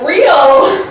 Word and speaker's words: Re: shows down there so my last name is pronounced real which is why i